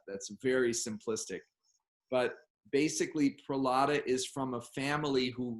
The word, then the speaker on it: Prahlada: said i'm here okay how do you say it one more time pulata yeah so it's really different